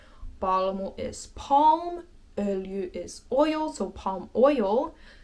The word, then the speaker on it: öljy: Öljy is kind of a difficult word, I would say, in Finnish, just because the y, u combination takes some getting used to.